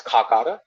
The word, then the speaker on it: Kakara: is Kakara people um even scholars end up mispronouncing it as Kakar temple it's not kakar it's kakara uh kakara means um